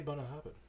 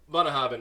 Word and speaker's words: Bunnahabhain: How do you say Bunnahabhain?